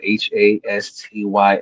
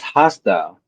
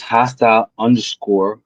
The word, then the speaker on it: Hastyle: H A S T Y L E. Pronounced hostile, not hasty. Oh, hay style.